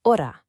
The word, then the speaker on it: hora: In Spanish, the letter H is always silent. So for the word hora, you don't pronounce the H at all. It's hora.